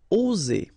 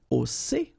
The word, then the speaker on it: oser: Okay, it's interesting here because you've got only one S between two vowels, and normally the pronunciation you will get when you've got only one S, it's Z, okay? Oser, all right? If you would have deux S instead, you will pronounce it oser, okay? But in that case, you've got only one S, and that's the rule. One S between two vowels will produce the sound Z, oser, okay?